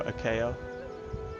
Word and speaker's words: Achaia: And just a quick note while we're at it, when you see Achaia, or Achaia, as a lot of people pronounce it in the Bible, that's basically the southern regions of Greece here.